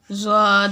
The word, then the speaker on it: ظ: زن۔ زن، زن، زن۔ زال کو ہم نے باریک پڑھا ہے نرم لہجے میں، اور زوا کو ہم پڑھیں گے نرم، لیکن اس کو تھوڑا سا پر کر کے پھر اس لفظ کی ادائیگی ٹھیک ہوگی۔ زوا 2 زبر زن۔